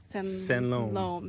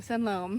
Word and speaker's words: Sanloem: Sanloem. Sanloem.